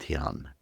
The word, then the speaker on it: dhyan: If that is what we mean by meditation in Sanskrit that thing is called tion d h y an one of the products of tion is supposed to be vagya which is misinterpreted as detachment.